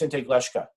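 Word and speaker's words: Siŋté Glešká: of spotted tail in our language it is pronounced in tag leshka and after the very short reading I'm happy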